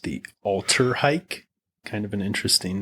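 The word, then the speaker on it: Alltrhike: Uh they've got a model they pronounced the Alterhike.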